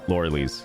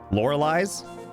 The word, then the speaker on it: Lorelei: belts yes good uh Lori Lee's Laura just Laura Lee's right lore Liz I hear other streamers pronounce it and I realize it's different than what I've been saying lorelei's oh